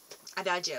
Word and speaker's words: Adagio: I'll link the actual name because I don't know how to pronounce it. It's Adagio.